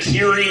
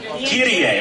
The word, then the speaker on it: Kirie: People have told me that Kiri is not the way to pronounce this character's name, but I don't know. Kirie. Okay, we'll go with that.